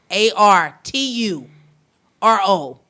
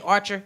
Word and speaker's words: Arturo: like y'all can't spell it's a r a r Tu r o some some people like what you say archer no it's Arturo go find them up